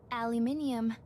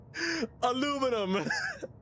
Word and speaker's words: aluminum: Aluminium. Aluminium. Aluminium. Aluminium. Aluminium. Now say it the correct way, you naughty naughty human. Kaba. Is that Chris? Aluminum.